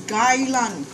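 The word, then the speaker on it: 芥兰: Or Chinese, we call it kai lan, but we pronounce it as gai lan, English way of calling.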